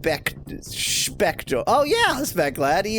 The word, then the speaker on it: Spector: Shouldn't it be pronounced Spector? Oh yeah, Spec Lad. He is von Wiener Schnitzel. He's German, so it is Spectre.